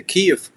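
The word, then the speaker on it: Київ: You grew up in Kyjiw. Is the pronunciation right? Kyjiw? Yeah, it's to be sure. Actually, need to say Kyjiw. Its original name Kyjiw.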